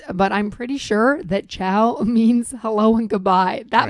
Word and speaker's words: Ciao: It's CIAO. Oh, right. I totally would have spelled that like the dog or eating. What? Ciao. Wow. That rhymes with wow.